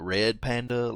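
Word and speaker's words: ReadPanda: called read Panda but it's pronounced like red panda like re e a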